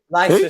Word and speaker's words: Leicester: Leicester City. One more time. One more time. Leicester City. Leicester. It's pronounced Leicester. The C is silent.